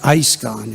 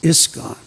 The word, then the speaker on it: ISKCON: first letter their course is a short I if you know grammar it's not ice gone it's iskcon but there's no individually